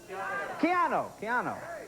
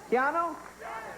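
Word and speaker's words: Keanu: Keannu. Keannu?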